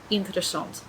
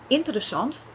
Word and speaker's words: interessant: So take, for example, the word interessant in Dutch. Interessant is not interessant. It's not interessant. So you can hear that if I change the stress for the different part of the word, it doesn't actually sound right anymore.